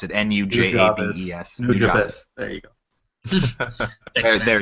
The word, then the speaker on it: Nujabes: It's from a song called "Lovesick Part 4" by New Jobs or New Jabes or however you pronounce it. Nujabes.